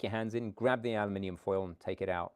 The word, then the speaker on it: aluminium: So you just pronounce it wrong. We call it. It's aluminium and No, enough about this.